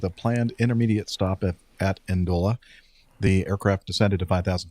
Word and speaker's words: Ndola: Performing a flight from Goma, DR Congo to, there's no vowel in there between the N and the D. I'm not sure how to pronounce that. Ndola. Ndola. Zambia. No, Steph got it right. Ndola.